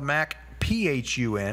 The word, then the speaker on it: Macphun: You understand it's spelled Mac, P-H-U-N, yes.